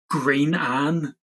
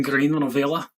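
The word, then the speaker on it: Grianán Ailigh: the easy way to say it is Green Anne, Mhm. but if we're saying it in Irish, as Gaeilge, it's an Green an Avila.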